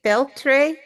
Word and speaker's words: Feltre: But Mauro Stemberger was born in 1978 in Feltre. Is that how you say it? Feltre, Yes, Italy? Feltre.